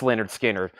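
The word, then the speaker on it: Lynyrd Skynyrd: for you next is Leonard skinnard pronounce Leonard skinnard this is going up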